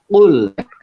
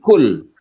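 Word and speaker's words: قل: Misalnya saya beri contoh saja mungkin di tadi surat Qul Allah ya. Qul huwallahu ahad ya. Itu kan pakai kul ya. Pakai qaf. Jangan menjadi kul.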